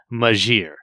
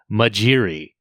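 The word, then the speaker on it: Majere: But I looked it up before this, and all of us were deceived, for another Majure, pronunciation was created by the actual writers, and it's like Majiri.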